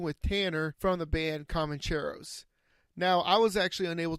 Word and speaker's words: Comancheros: Am I pronouncing that right? Yeah, we always say Comancheros, but yeah, you can say it however you want, man.